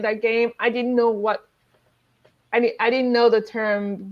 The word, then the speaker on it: Whot: Okay, I grew up playing like Uno, and in Nigeria we had an Uno type of game that's called What. It's spelled WHOT.